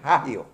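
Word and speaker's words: hagio: en los comentarios bíblicos la H se pronuncia como J Cuando vean una H escrita pronuncien como J porque por ejemplo en agio no se dice iio dice haio porque eh cuando hay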